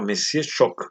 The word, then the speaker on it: Monsieur Choc: Este lo habíamos visto recién, también es de Bélgica, se llama Monsieur Choc, así se pronuncia, es francés, el idioma que hablan en Bélgica, por eso tienes estas palabras en idioma francés.